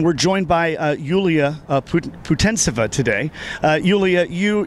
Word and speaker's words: Putintseva: joined by yuliya Putin Putin sava today Yulia you your name is pronounced futon sofa isn't that right yeah it's right you